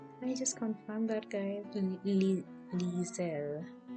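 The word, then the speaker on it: Liesel: just confirmed that guys lisa i think it's lizelle i don't know how to pronounce it the spelling is l i e s e l she's a nine-year-old girl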